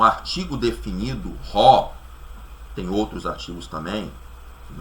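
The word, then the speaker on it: ὁ: A única diferença que nós vemos é que aqui, antes de logos, tem o ômicron com a aspiração forte, que nós pronunciamos como ró. Ró.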